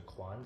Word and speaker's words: Quang: So Frank is telling me that Quang is actually pronounced closer to Quan, so Larry Quan, yeah, my brother from another mother.